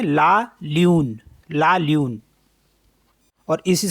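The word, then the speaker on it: lundi: बोलते हैं मंडे और फ्रेंच में बोलते हैं लं दी एल यू एन दे ई तो इसे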